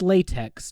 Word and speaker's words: LaTeX: markdown language called LaTeX, which is spelled latex. Don't worry about it. You don't say the X because it was made by an idiot who gave it a stupid name. But you call it LaTeX or LaTeX, even though it's got an X.